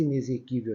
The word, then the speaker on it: inexequível: tá vendo diferente de inexequível esse inexequível aqui esse X Ele tem um som de z ele tem um fonema Z tá C exuberante excitar